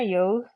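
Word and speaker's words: yogh: the yog the yog can hear that I'm kind of pronouncing the GH sound there yog it's also a y sound and it will indeed make either a y or a g that softer sound though G this this G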